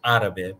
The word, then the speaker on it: árabe: It's always árabe because it's where the stress is, where the accent is.